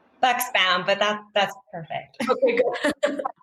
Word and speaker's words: Buxbaum: Am I pronouncing your last name, Jessica, correctly? Buxbaum, but that's perfect.